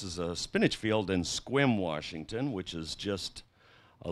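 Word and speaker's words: Sequim: And it can be gray everywhere else, and you can go to Squim and you find the blue hole. Squim is spelled S-E-Q-U-I-M.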